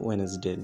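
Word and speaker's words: Wednesday: এরপর দেখো এখানে লেখা আছে ওয়েনেসডে WEDNES DAY ডে ওয়েনেসডে। তাহলে দেখো শিক্ষিত বন্ধুরা, এখানে ডি ওয়ার্ডটা হচ্ছে সাইলেন্ট ওয়ার্ড, এর উচ্চারণ হবে না।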